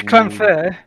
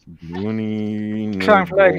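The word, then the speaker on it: Llanfair: The first bit's Clanfair. Clanfair. You always pronounce the L's as a CL.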